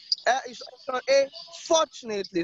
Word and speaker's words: fortunately: strategic or shall be strategic alright okay fortunately so the stress is on the first level